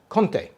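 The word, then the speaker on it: Comté: cheese which is a fantastic french cheese it's conte it's it's actually c-o-m-t-e it's pronounced conte in france but a lot of recipes i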